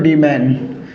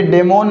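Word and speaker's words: demon: तो इसके अंदर एक वर्ड तो हो गया साथियों डीमैन। क्या हो गया, डीमैन। ये डेमोन नहीं है साथियों, इसका करेक्ट प्रोनाउंसिएशन क्या होगा, डीमैन।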